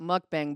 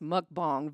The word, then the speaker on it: mukbang: One of my guilty pleasures is I like watching I used to call it mukbang but it's pronounced mukbang videos like the eating videos because I live vicariously through that.